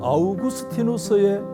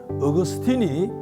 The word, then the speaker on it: 아우구스티누스: 성경을 제외한 한 인생책을 누가 저에게 묻는다면 저는 아우구스티누스의 고백록을 말씀을 드리고 싶습니다. 아우구스티노스 그러니까 좀 생소할 수가 있는데 우리가 흔히 잘 아시는 영어식 발음인 어그스틴이 바로 그 사람입니다.